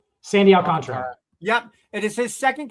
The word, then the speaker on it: Sandy Alcantara: Sandy Alcantara.